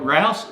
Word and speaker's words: Rouse: My name's Rouse, rhymes with house, and continuing on, how would you like to have a business that runs smoothly, efficiently, effectively, with balance?